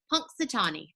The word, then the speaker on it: Punxsutawney: in the town of Punxsutawney I practiced that so many times before this video it's got a little pronunciation in those brackets it says punks duh tall knee Punxsutawney Pennsylvania there's a